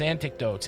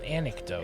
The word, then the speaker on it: anecdotes: mood Mesto and his antidotes antidotes anic an anec you're still saying it wrong I'm still saying it wrong anecdotes anecdotes anecdotes well it sounds like anecdotes though think Anakin no I try not to